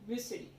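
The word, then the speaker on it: Muscidae: बेटा, family Musk म्यूसिडी, कोई कोई उसको मस्किडी भी बोलता है, लेकिन क्या होता है प्रोनाउंसिएशन, म्यूसिडी।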